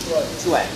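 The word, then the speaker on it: quan: حرف الكيو في اللغه الصينيه بيتنطق كانه سي اتش.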